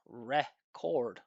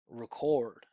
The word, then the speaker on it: record: I'm not pronouncing this vowel the way it's written. I'm not saying record record record. Okay? Listen to the way I'm pronouncing I'm saying r record record Okay? So that sound here for those of you that you know have watched videos on American pronunciation you probably know that that sound is the schwa.